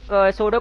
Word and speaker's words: pseudo: क्या रख रहा हूं, सूडो क्लास रख देता हूं, अच्छा पी यहाँ पे साइलेंट है, सोडो डॉट HTML।